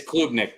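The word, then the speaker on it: Klubnik: Club Nick good so who knows Nick it's Club Nick bro you probably are saying it wrong yeah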